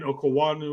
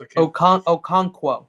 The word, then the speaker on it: Okonkwo: They're tied in Okawanu or whatever, however that's pronounced. Okonkwo.